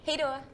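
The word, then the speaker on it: hej då: like how do you say bye in Swedish hey Dora hey Dora okay so I'm Sophia this is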